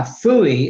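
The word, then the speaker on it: FOOIE: chat is going to be we're talking about phoey now phuy is spelled f o o i e which stands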